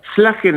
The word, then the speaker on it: Szlajen: Slagen está perfecto, Bueno. sí, como si fuera una S, es SZ porque es de origen polaco, pero bueno, en castellano se pronuncia como si fuera una S, en polaco sería como si fuera una SH, como Schlagen, pero en castellano con Slagen es suficiente.